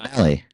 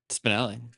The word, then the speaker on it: Spinale: Nobody can say my name, dude. It's fine. Spinelli. Spinelli. Yeah. Like, you ever seen that show Recess?